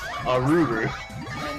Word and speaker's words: Arle: I say Arle, but I mean that's because that's what I've always known. I should really pronounce it like the Japanese pronounce it, Aruru.